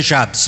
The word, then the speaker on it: Jabes: z então seria jaes mas na nossa pronúncia aqui ela se torna Jabes então o muitos fala jabis né mas na nossa pronúncia seria Jabes mesmo então a palavra